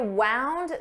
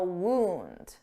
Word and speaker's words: wound: Wound is the past form of wind. I wound the clock. But we also have a noun, wound. Wound. Wound is when you have a cut or hole on your body, usually caused by a weapon.